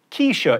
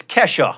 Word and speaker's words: Kesha: wanted to seem relatable i referred to the music of keisha it turns out i was mispronouncing the dollar sign it's kesha it's nile horan not